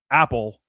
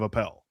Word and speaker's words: Appel: One of his co-hosts and I share the same spelling of our last name, yes, but his co-host Peter pronounces it wildly incorrect, Apple instead of Appel.